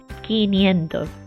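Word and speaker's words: quinientos: Sí, 500, esa es la pronunciación correcta de Ki, Q-U-I.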